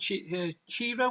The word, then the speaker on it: Ciro: But it's an artist called Ciro or Chiro, C-I-R-O. I think it might be pronounced Chiro actually.